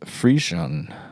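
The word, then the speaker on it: frisson: the experience is called fanan interesting s f r i s s o n pronounced fan a French term meaning why are you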